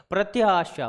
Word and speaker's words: प्रत्याशा: लेकिन देखिए उच्चारण जब करोगे ना, आप बोलो, आप बोल के देखो बेटा, प्रति आशा, प्रति आशा, प्रति आशा, प्रति आशा, प्रति आशा, प्रत्याशा, प्रत्याशा, ऐसे बार बार बोल के देखो।